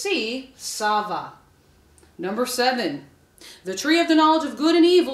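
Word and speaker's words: tsava: Sava the answer is remember it's spelled with that silent t t s a v a the answer is C Sava number seven the tree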